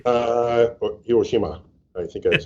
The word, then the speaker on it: Hiroshima: Or Hiroshima, I think that's how you say it. Yeah. My daughter studies Japanese, and so she's trained me that Hiroshima. Right. You don't emphasize any one accent over another.